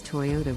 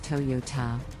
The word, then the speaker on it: Toyota: Japanese brand is Toyota the correct pronunciation is Toyota with the emphasis on the second syllable many people mispronounce it as Toyota let's look at a